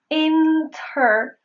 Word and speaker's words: interview: So if you see the N and T phonemes in a row, you may pronounce it with the N sound only, dropping the T.